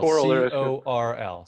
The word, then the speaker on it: Coral: Coral, Coral. C-O-R-L Technologies. Pronounced Coral.